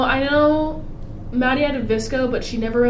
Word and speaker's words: VSCO: I don't know if Xana had a Visco or not.